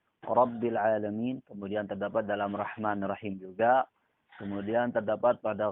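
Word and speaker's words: رحمن: Nah, yang benar adalah bacanya ra tebal, ha tidak ditukar dengan ha. Jadinya Rahman.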